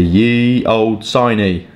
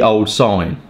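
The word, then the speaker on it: Ye Olde Signe: ones from my list the Ye Old siny don't say it like that it's actually the old sign um by Dunhill one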